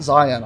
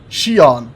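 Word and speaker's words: Xi'an: on the Zion Scout it's not Zion I know that Shion there we go that's how you said it I think Shion Scout and that thing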